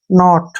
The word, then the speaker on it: knee: एन से पहले फिर के आ गया तो हम के को छोड़ देंगे, एन का उच्चारण न करेंगे, और डबल ई को बड़ी ई की मात्रा पढ़ेंगे।